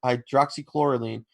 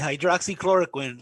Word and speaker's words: hydroxychloroquine: of anti-malaria drug hawks hydroxy chlorine but multiple source you gotta say it right hydroxychloroquine because if you say you're wrong somebody's gonna go and